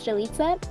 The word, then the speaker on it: Jalitza: yeah so hi everyone my name is Jita it rhymes with pizza um I love a